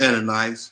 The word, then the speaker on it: Ananias: But a certain man named pronounce that for me. Ananias.